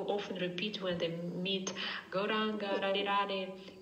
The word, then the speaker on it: Gauranga: Радха Кришна is a four-syllable mantra. И Радха Кришна – это мантра из четырех слогов. And Gauranga is also four syllables.